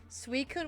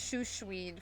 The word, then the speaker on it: Suicune: Suicune was Shushween for a while.